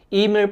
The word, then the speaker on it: Emir: Sabi nga po n nag-comment sa akin na itama ko raw po yung pronunciation ko. Emir po yung tamang pronunciation sa kanya.